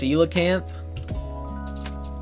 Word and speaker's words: coelacanth: Lo-Fi though eight tokens baby let's go it's pronounced coelacanth by apologies real it is boom baby you